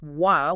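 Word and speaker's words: は: Then you have R which is pronounced Wah when it's acting as this topic marker particle even though it's the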